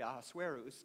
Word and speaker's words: Ahasuerus: After all these things, the king, whose name is pronounced actually Ahasuerus, if you want to pronounce it, but since that's so difficult, we can just refer to him as Elvis.